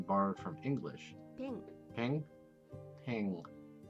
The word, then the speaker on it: ペン: It sounds like she's saying peng.